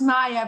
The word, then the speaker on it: Maja: i think that's probably maja is it correct that's that pronunciation of your name it's maya but maja sounds very charming so yes so maya